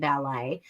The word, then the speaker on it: ballet: There's lots that Ila knows, like you don't pronounce the T and ballet, but there's so much she doesn't.